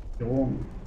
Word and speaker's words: Guillaume: Guillaume.